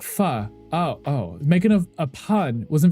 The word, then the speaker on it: pho: It's pronounced like pho.